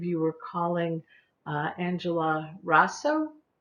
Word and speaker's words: Raso: um i believe you were calling uh angela rosso razzo rasso rasso thank you uh dr resso uh uh if